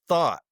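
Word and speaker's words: Thoth: th the Egyptian god I like thought because I think that's perfect. I heard Gemini Brett say that pronounced it thought and he mentioned like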